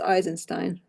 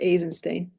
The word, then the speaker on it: Eisenstein: Wikipedia and S aisenstein I know it's not pronounced eisenstein um I've been told that that it's it should be pronounced aen Stein because it's a Russian name so I'm not M